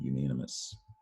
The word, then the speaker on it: unanimous: reading the latin word unanimous so this ous spelling pattern you have to be able to recall and remember when you spell you don't hear the o but it is there yeah some common words